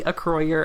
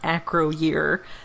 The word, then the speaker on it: Acroyear: toy commercials, it was always supposed to be a croyer and not acroyear as it clearly is spelled.